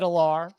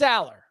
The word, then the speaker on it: Allar: in the podcast like so how do you pronounce it because Franklin said alar but it's Aller okay well damn it I do think the Drew Aller is going to be fantastic I think that